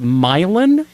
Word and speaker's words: Milan: This is Milan? You can call it Milan if you want. Lots of Italian people do.